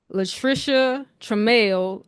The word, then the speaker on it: Latricia Trammell: You had Latricia Trammell of, did I pronounce that right?